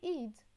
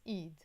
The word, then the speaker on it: إيد: you just want to say hand, you say إيد. I will write it either like this. I can also put the number 2 to pronounce the e. In Arabic, we will write it Eid in the Lebanese Arabic way, okay?